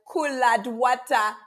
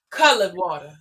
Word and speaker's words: Cullud Wattah: I'm so glad I realized collad with colored water. It's pronounced colored water.